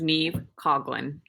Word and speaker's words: Niamh Coghlan: could you each please pronounce your names correctly for me? My name is Niamh Coghlan.